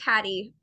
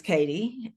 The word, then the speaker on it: Cady: It's about 75% catty, and then there's really only 10 to 15% that actually get it right on the first try.